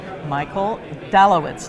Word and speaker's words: Michael Dalewitz: And I'm with Michael Dalewitz. Did I pronounce that right?